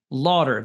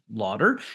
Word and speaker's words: Laughter: AI tools like decipher it's not spelled exactly as you might expect it to be uh Lauder anyway why don't you